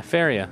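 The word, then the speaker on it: Faeria: F-A-E-R-I-A. Yeah, Faria. That sounds right.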